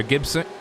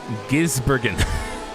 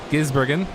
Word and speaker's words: Gisbergen: driven by shane evander gibson i i just said it wrong again didn't i gizbergen there you go if i say it slowly it works currently driven by shane vander gibbs gisbergen there you go started